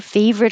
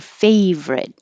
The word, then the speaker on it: favorite: What's your favorite? And the word favorite looks like it should be three syllables, favorite, but we drop the middle and just make it two syllables.